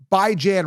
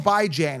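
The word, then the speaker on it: Bijan: to me it's clear-cut it's going to be by Jan Robinson now some people say well Joe why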